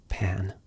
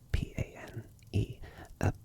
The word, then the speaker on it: Pane: My name is Pane, with an E on the end. P-A-N-E. But some people pronounce it Pane.